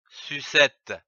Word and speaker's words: sucettes: que nous allons voir sucettes et du type féminin on rajoute un e à la fin de l'adjectif joli mais on ne prononce pas le s sucette s ur tu